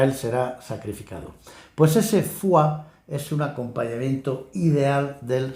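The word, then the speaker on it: foie: fua eh Por cierto fua es una palabra chocante porque es una palabra francesa que se escribe o y e f o y e pero ninguna de esas vocales se pronuncia se pronuncian las otras dos vocales que no se escriben ua fua en fin una palabra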